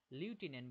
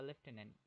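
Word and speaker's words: lieutenant: আমাকে দিল না সেই হিংসা ক্যাসিওকে অথলো লয়াল লিউটেনেন্ট বা লেফটেনেন্ট দুটোই বলতে পারো দুটোই একই সঠিক উচ্চারণ যে প্রমোটেড করেছিল ইয়াগো ইয়াগোর উপর ইয়াগোর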